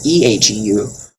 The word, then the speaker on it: eheu: If you feel bad, you could say Heu, Heu, U, or Ehu, Eheu.